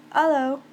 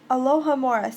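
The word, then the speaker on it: Alohomora: hoped it was nearly Alo no alohamora say it right honestly oh it's you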